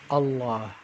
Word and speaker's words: الله: we'll connect it so when i say allah the first sound is ah so i'm gonna let